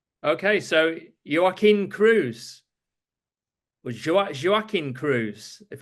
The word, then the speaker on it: Joaquim: Okay, so Joaquim Cruz or Joaquim Cruz, if I get your Jo- name.